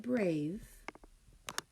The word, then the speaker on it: brave: We don't hear that silent E, so it's going to be small at the bottom, sharing a box. Long vowel, silent E pattern. Please write brave under your word column.